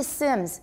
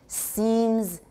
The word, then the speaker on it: seems: especially if you're not sure if you say sims you're not using the spelling to help you